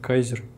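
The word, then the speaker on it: KAISER: чинился fishing лири муфт такое длинное название читается как кайзер ну в общем делает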